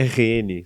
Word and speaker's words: Heni: esse é uma Saga meu nome é Renner Só que se escreve com h n Ozzy cukier E aí